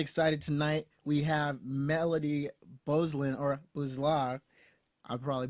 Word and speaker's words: Beuzelin: So in French, I mean, it's like 12 letters long, but we only use like 6 of those letters. So it's pronounced Beuzelin.